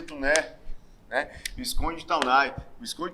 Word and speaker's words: Taunay: A figura emblemática histórica de Visconde de Tuné. A figura é o Visconde de Tuné. Visconde de Taunay. Se pronuncia Tuné, né?